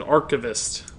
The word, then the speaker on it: archivist: this dark abyss see that is what the internet would suggest is the wrong pronunciation archivist a lot of people seem to think that one's what they want it to be but pronunciation guides for whatever those are worth that's you know what's your own opinion debatable but the internet would suggest that it's archivists with an eye sound instead of an S sound